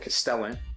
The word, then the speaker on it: Castellan: Of course, the Lord Castellan, rhymes with the repellent, and the terrain, the Balfour Arches, and then you also have the Balfour Gateways and the Ophidian Archway as well.